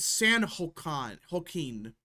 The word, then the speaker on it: San Joaquin: And San Joaquin, that's how you say it, which is the Democrat part of the district.